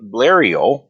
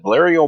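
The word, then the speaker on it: Blériot: on july 1st 1912 she was flying the blario that's how you pronounce that blurrio monoplane so a lot of the planes at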